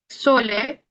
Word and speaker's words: sole: Sole, ¿Qué sería sole? Pues sol. Se pronuncia la S realmente como un sonido sordo.